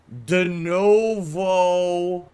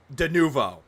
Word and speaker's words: Denuvo: PC and it has denovo it's denuvo not denovo going back to how